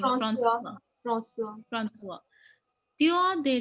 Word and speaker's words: François: Ma'am, how do you pronounce his Yeah, name? François.